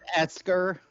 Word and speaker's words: Escher: Yeah, Escher. Mm. yeah. I know. What It's do you mean? pronounced Esker. Definitely.